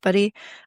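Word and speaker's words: Budde: I think her last name is pronounced Buddy.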